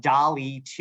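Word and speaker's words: DALL·E 2: have a a seven-year-old daughter um and when Dolly 2 U that's how you pronounce this dolly 2 when it launched I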